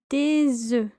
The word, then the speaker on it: des œufs: So multiple eggs would be des œufs. Des œufs. Des œufs. As you can hear, there's a slight z sound, a z sound. That is a liaison between the s and the e. Des œufs.